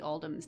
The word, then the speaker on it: Oldham: It was a great honor receiving the invitation to dine at your estate with the Oldhams this past Thursday. Actually, it's pronounced old hams.